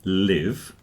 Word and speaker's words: live: need to discuss is this word live l i v e live which can also be pronounced live that's very confusing it is because they look the same but they sound different which means they are